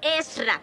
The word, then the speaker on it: Esra: señorita Cómo que señorita no sabes que me llamo esra son dos sílabas esra Cómo tengo que decirlo es ra Ese es mi nombre